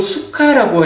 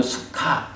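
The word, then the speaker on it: sukha: 그 수카라고 할 때는 요 SUKK 다음에 H가 하나 붙어야 돼. 그래서 그건 수카 그래야 되고, 요거는 H가 없기 때문에 수깡이라고 읽거든요.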